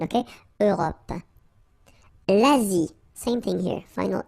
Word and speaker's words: Europe: Remember this final it's not really present. It only gives you the possibility to pronounce this P at the end, okay? Europe.